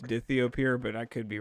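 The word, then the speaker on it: dithiopyr: it has die i think it's pronounced dithy appear um not a sign but i think alan sometimes pronounces it di thiopeir but i think it's actually pronounced dithio pure but i could be wrong well shout out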